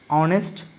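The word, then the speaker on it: honest: है ना कि स्पेलिंग तो अगर आप इन शब्दों का उच्चारण करेंगे तो हम आवर बोलेंगे ओके आवर करेंगे यह कहते हैं और ऑनेस्ट ऐसे उच्चारण करें ओके उसी इसी कारण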